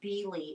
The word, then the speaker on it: Beale: looks like beal not it looks like beale but irena from fiber chats i think pronounces it bili it's b-e-a-l-e yeah b-e and i wanted to say beale but i think irena says beely her i dude it's